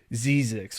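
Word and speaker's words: Zzyzx: something like that and I think it's pronounced like zix or something like that I believe is how you say it but Cal State there's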